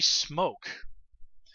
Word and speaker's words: Smoak: the character of felicity smoak and her name is not actually spelled like it would be spelled the word smoke I believe it's a